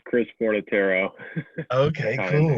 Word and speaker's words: Fornataro: uh, it's Chris Fornataro.